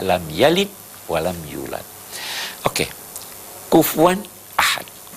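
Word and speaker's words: كُفُوًا: Kufuan ahad. Kufuan dibacanya kufuan atau kufuan.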